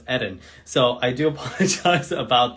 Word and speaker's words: Eden: eden um or as i always call him eden but i've been told by several people his name is pronounced edin so i do apologize about that but welcome